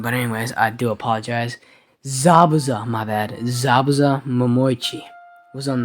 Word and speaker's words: Zabuza: as the person on that blade would be sabuba whoa I do apologize for that I kind of mispronounced his name there ah I don't know what I was thinking but anyways I do apologize Zabuza my bad zabaza was on the sword as